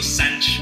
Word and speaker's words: Santos: It's Pedro. It's Pedro. Pedro Sanch. Pedro Sanch. It's not Santos.